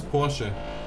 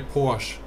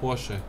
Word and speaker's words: Porsche: In German it's Porsche. In English I know it's you say Porsche, but it's Porsche. Porsche.